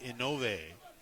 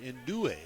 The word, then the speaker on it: Inoue: It'll be Inove. Sorry, Indue is the correct way to say it.